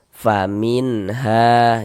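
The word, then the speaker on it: فَمِنْهَا: Faminha jangan dibaca famin dipanjangkan begitu. Jangan salah pendek saja. Faminha. Ha dibaca panjang.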